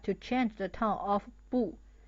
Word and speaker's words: 不: The pronunciation of this character is 不, fourth tone, and it means not.